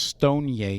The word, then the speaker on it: StoneCo: in payment space is stoneco pronounced Stone yay in Brazil they are of a